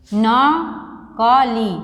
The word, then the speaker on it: नकली: ठीक है बेटा, न क ली नकली, तो कैसे पढ़ेंगे नकली को, न क दीर्घई ली नकली।